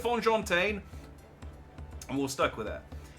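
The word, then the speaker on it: Fonjantaine: I think we agreed it was Fonjin Tane or Fonjin Tan, Fonjin Tane, Fonjon Tane. We'll go with Fonjon Tane, and we'll stuck with it.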